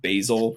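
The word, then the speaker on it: Bhayshul: It's kind of pronounced Basil, but it's spelled with like an H and a Y, and it's crazy looking.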